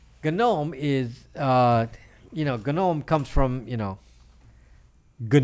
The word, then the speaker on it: GNOME: is called gun gnome it's spelled like gnome but it's pronounced gun known Soga gnome the gnome is you know gun ohm comes from you know